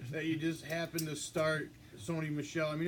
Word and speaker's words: Sony Michel: really bad ya know here Sony Michelle you're right I mean he had seven point